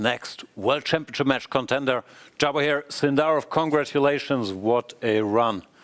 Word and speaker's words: Javokhir: Like in Russian, everyone says Javokhir, but in general, in Uzbekistan, Javokhir.